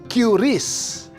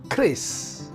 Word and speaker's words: QRIS: Q Ris Apa itu banyak orang yang mengira membacanya adalah curis padahal membacanya adalah Kriss ini adalah singkatan dari